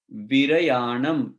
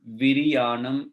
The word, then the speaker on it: विरयाणम: सव्वेसिम तेसिम पण ओ, हो नहीं, पण ओ, तिविहेन तिदंड विरयाणम, विरियाणम नहीं, सो विरयाणम।